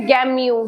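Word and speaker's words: gamut: मैंने क्या लिखा गमय इसके स्पेलिंग क्या है जी ए एम यू टी इसमें टी साइलेंट होता है इसकी प्रोनंसिएशन होती है गमय जी ए एम यू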